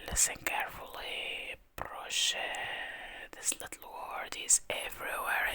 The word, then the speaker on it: Proszę: He checks your passport, returns it with a smile, and say "Proszę." Listen carefully. "Proszę."